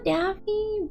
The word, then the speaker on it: Daphi: Daffy. But Daffy. D A F Y. D A P H. Y. They pronounced the same.